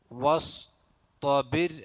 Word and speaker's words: واصطبر: വസ്തബിർ അലൈഹ. വസ്തബിർ റാഇൻ്റെ മുമ്പ് കെസ്റാണ്. സുക്കൂനായ റാഇൻ്റെ മുമ്പ് എന്താണ്? കെസ്ർ വന്നാൽ റാഇന് തർഖീഖ് ചെയ്യണം, അതായത് രി എന്നുള്ള ഉച്ചാരണം വരണം. അപ്പോൾ വസ്തബിർ അലൈഹ. വസ്തബിർ വസ്സീനല്ല, സ്വാദാണ്.